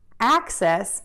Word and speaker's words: access: access excess and then for access again think about the first beat here acts and to do that we know how to say the app and then we're just going to add that us by allowing that air to move out of the mouth tip of the tongue